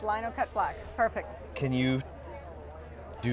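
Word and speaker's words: linocut: happen to be standing in front of the Lono cut block is that how it's pronounced Lino cut block perfect can you do your Spiel tell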